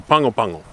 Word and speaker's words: Pago Pago: Anyway, so the G in Samoan is an N-G sound, and the A is like Spanish, right?